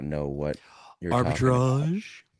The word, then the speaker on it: arbitrage: Arbitrage. It's Arbitrage. pronounced arbitrage. French.